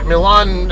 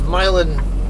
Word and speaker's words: Milan: it a certain way like Milan Missouri versus milin Missouri locals there to call a milin but a damn town